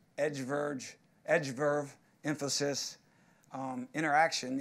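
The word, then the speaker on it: Interxion: verge edge Verve emphasis interaction even though it's spelled int ER x io n and exhibit sponsors block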